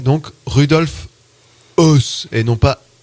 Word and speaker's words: Rudolf Höss: Je te passe le nom de cette émission, puisque, alors apparemment, ça se prononcerait donc Rudolf Höss et non pas S comme nous l'avions fait.